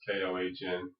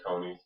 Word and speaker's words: Kony: story with uh with con which is actually pronounced Kohn but I'm just keep saying conies because people will know what I'm saying but